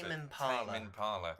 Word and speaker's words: Tame Impala: How do you pronounce Tame it? Impala. Tame Impala.